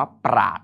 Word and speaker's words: ปราชญ์: ต่อ ไป อัน นี้ อ่าน ว่า ปราชญ์ อัน นี้ ยาก นิด นึง นะ ช ช้าง ย หญิง ทาน ข้าว ต่อ ไป